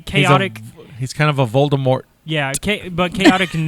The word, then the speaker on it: Voldemort: that was pretty good she never wanted the t pronounced we learned that when we were doing our harry potter star wars uh podcast it was always supposed to be voldemort like voldemort and then people said